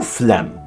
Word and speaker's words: phlegm: G has no business in being in sign nor phlegm.